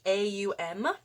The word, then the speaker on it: om: so you want to pronounce the om like a-u-m it'd be like uh uh oh and then ma or ma so all together please cover